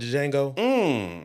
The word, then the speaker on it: Django: So, you're like Samuel Jackson and Django. First off, the D is silent, so watch your mouth.